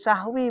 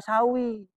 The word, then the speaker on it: sahwi: Sujud sahwi bukan sawi. Sawi itu makanan arwana. Sahwi lupa.